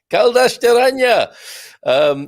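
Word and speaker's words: Caldas da Rainha: Kaldashteranya. Your pronunciation about Kaldashteranya is quite perfect. Thank you. So I think you're looking at Kaldash Deranya with a little bit of an H in there.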